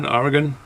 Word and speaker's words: Oregon: But I'm assuming These crystal hops came from Oregon, from saying it correctly, Oregon.